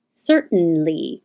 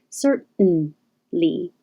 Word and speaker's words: certainly: sound a little longer certainly the same as beaten cert the tongue goes up to the t position but you hold it there for the noise certainly certainly and the same